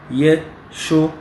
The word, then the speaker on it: Yeshua: Dans les temps c'est Yeshua. Et en phonétique, c'est 3 syllabes. 3 syllabes. Yeshua.